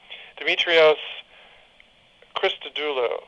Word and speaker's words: Christodoulou: by a greek and i'm probably going to slaughter his name dimitrios christodoulou i think is the way to pronounce it it's c-h-r-i-s-t-o-d-o-u-l-o-u